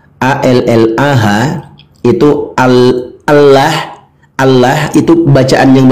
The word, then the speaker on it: Allah: Karena memang begitu penggunaan pembacaannya, cara membacanya. A-L-L-A-H itu Allah itu bacaan yang benarnya Allah, dibaca tafkhim tebal.